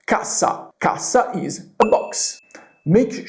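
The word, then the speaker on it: cassa: However, if I double up the s kasa, kasa is a box.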